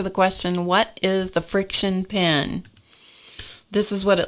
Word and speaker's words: FriXion: going to answer the question what is the friction pen this is what it looks like it's spelled f r iix i o n it's